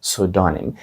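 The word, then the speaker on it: pseudonym: вимовляється як pudonм pдоonм літера P на початку взагалі не вимовляється вона глуха Отже це слово вимовляється як донім і перекладається воно як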